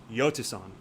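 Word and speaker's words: Jhostynxon: It is Yotason, is how he says it.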